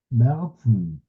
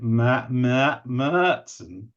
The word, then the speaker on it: Märzen: So I've never brewed a Märzen, but I got a German friend to tell me how it's pronounced. Märzen. So that's it, Märzen, something like that.